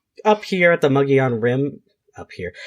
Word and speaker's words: Mogollon: in Native American but that's how we pronounce it in Arizona as white people it's Margolin but it's muggy on muggy on rim and